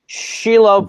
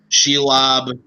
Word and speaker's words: Shelob: Then you spelled it out and then just give a pronunciation and then say final answer. Okay. Shelob, final answer.